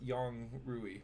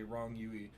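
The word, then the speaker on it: Yong-Rui: Why do I always pronounce that the opposite way around? It's Yong Rui, but I say Rangui.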